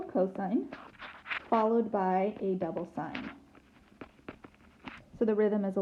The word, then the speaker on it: sine: this goes cosine, cosine, sine, and we spell it, it sounds the same, okay, but we spell it with S-I-G-N, and then sine, sine.